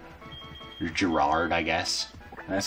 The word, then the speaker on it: Gerard: I can name you Gerard. Or Gerard, I guess. That's how I've seen it pronounced in Magic.